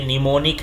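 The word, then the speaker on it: mnemonic: जैसे ये मैन और ये निमोनिक है इसमें एम क्या है साइलेंट है इसी तरह से न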